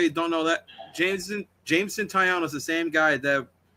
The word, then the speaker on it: Taillon: Also, staying with the Blue Jays, Jameson Talon. Yeah, it's pronounced Jameson Taillon.